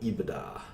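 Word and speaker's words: EBITDA: this sometimes call this Aveda it's how you pronounce it yadda not EEB it's da but eBay da and its earnings before interest taxes depreciation and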